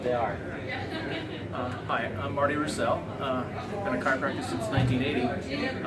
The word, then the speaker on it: Roussell: Martin Roussell, is that how you say it?